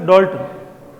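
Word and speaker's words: Dalton: Pronunciation क्या है इसका? डाल्टन, भले डीए लिखा हुआ है, ठीक है, डी उसके ऊपर चंद्र बिंदी लगती है।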